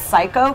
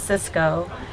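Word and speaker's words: Syco: I think it's pronounced Psycho, but the people call it Cisco. No, it's Psycho.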